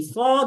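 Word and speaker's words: ص: সদ সিন এবং যা তিনটা হরফ একই জায়গা থেকে উচ্চারণ হয়। সেটা হচ্ছে সামনের শাড়ির নিচের দুইটা দাঁতের পেট। কিন্তু উচ্চারণের ধরণে পার্থক্য। ধরণটা কি?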